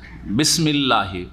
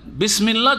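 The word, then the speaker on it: بسم الله: উচ্চারণে আলিফ আছে না। কিন্তু লিখাতে আছে। যেটা হচ্ছে আসল। এখানে সেটা হজফ হয়ে গেছে। উচ্চারণ আসে না আর লিখা তো আসেনি।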